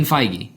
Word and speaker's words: Feige: it's the same thing how do you pronounce the Marvel guy which one Paul Kevin feig Kevin feige so it's Kevin FY FY and Paul Fe yeah God we need